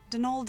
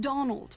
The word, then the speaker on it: Donal: That was the caretaker, Denol Delaney, not Donald. Mind you, there's no D at the end, so it's pronounced Dol.